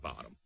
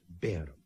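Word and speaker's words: Barham: to Downing Street with its main contents Lord baram but what Mr Pitman certainly do now is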